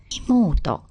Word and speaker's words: 妹: On its own, it's pronounced imoto.